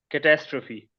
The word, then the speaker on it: catastrophe: Okay, so The first word is catastrophe. Catastrophe. Catastrophe. Catastrophe. Catastrophe. Banafsha, I cannot hear you. Catastrophe. Catastrophe. Yes. Yes. It is not trophy, it's trophy, catastrophe.